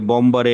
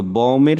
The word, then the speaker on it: bomber: ওকে, তাহলে এখানে হচ্ছে এ বম্বারে একটু প্রবলেম করছেন। হ্যাঁ, যে বম্বার কি হচ্ছে, যে বমটা হচ্ছে মূল শব্দ, তো বমের সাথে হচ্ছে একটা সাফিক্স যুক্ত হয়েছে ইয়ার দিয়ে নাউন করা হয়েছে, যে বম তো হচ্ছে বম, আর যে বমার মানে যে বম করে,